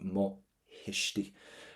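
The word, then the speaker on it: mo thuismitheoirí: So what we can go for is mohishti for my parents, but again, don't pronounce that letter T. Mohishti.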